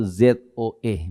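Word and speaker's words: ζωή: Kalau saudara buka Alkitab, saudara lihat dalam bahasa aslinya, bahasa Yunaninya tertulis itu ZOE, bacanya Zoe.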